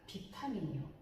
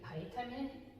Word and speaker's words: 비타민: 또 하나는 되게 익숙한 비타민이요. 비타민. 다른 교과서에는 바이타민이라고 되어 있는데, 바이타민은 그 영어 발음이죠, 그죠? 비타민, 우리 교과서는 비타민, 다른 교과서는 바이타민.